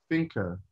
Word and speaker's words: Finke: And we're going to have a talk with Ben FINKE. Is that the right way to pronounce it?